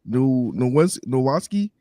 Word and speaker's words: Nowatzki: Linebacker Trevor Nowatzki.